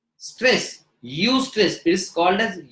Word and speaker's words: eustress: ई for elephant, you स्ट्रेस, यू स्ट्रेस, इट is called as यू स्ट्रेस.